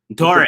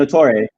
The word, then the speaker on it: Ntore: We got nobody knows, is, how do you say your last name? Ntore. Proper pronunciation. And Ntore.